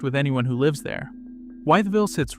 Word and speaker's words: Wytheville: Next up is Wytheville, the pronunciation trap that catches almost every narrator, human or AI. It isn't Wytheville. Locals compress it to Wytheville, 3 syllables folding into 2 the way it's said on the ground, and missing that is